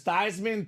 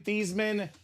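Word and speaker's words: Thuney: you right Ryan Williams there is actually three ways to pronounce Joe thyman name there's thyman thieman and tisman we learned a third way tonight uh so you can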